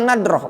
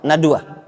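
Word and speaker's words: ندرة: Jadi bukan bentuknya nadroh, bukan jarang. Tadi pagi anak bacanya apa? Nadwa. Kalau nadwa itu perkumpulan, ijtima maknanya. Kalau nadroh itu jarang.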